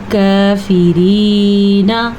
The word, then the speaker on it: کافرین: علی الکافرین عین کا تلفظ دھیان سے پڑھنا ہے. حلق سے نکالنا ہے. کاف کھڑی زبر کا اس کا بھی دھیان رکھنا ہے. یہ را باریک پڑھنی ہے. نون کو لمبا نہیں کرنا.